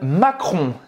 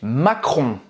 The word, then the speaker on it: Macron: aux audois toile président français comment est emmanuel macron emmanuel macron presta à pibrac a ajouté emmanuel